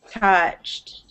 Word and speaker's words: touched: one more time okay so you're saying this o u is sounding more like an ow like this couch but it should be more of an ah like this touched touched yes perfect okay